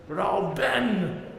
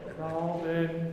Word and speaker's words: Rauben: Ben is not an important syllable. Rauben. Rauben.